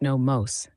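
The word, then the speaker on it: Nommos: Namos, pronounced no mos, ancient aquatic celestial beings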